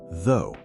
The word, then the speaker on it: though: Let us start with the first word though. Though is pronounced like though. It is similar to the beginning of throw but without the R sound.